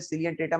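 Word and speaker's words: Coelenterata: Porifera, सिलियन ट्रेटा, एक बार मेरे साथ यहाँ पे रिवाइज कीजिएगा, पॉरीफेरा, सिलियन ट्रेटा, सी में आपके यहाँ पे सिलियन ट्रेटा में ओ और ई आपके साइलेंट है, सिलियन ट्रेटा, प्लेटी हेलमेंथ, एस्क हेलमेंथीस,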